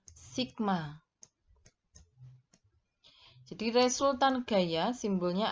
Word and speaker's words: sigma: pie yang Kaguya anak-anak cara membacanya adalah Sigma Hai jadi resultan gaya